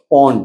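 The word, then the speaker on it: pwned: तो एक website have I been पोंड पोंड में मतलब उसकी स्पेलिंग है पे नहीं पी डब्ल्यू एन ई डी पोंड actually compromised ये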